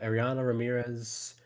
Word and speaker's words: Ariana Ramirez: Ariana Ramirez? Is that how you say it? Ariana? Yeah. Uh, yep, Ariana Ramirez, the 4 pitch workhorse.